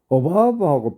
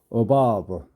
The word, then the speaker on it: above: 참고로 그렇게 알아놓으시고, 그 다음에 어바브하고 빌로우가 있는데요. 빌로우가 있고 어바브 이 V 발음이니까 참고하시고요.